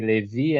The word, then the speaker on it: Levi: a lot of difficult to say Levi as like with the strong syllable in the V. Uh, so they asked me how to say my name. I say Levi, and they talk Levi.